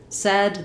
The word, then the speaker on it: said: says the A diphthong, in this word, it changes to said, the S sound, so it rhymes with words like red or head.